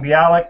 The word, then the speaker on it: Bialik: are okay my name is uh mark allen bialik which is the name of my channel bialy that's how it's pronounced yeah bialik and i do um you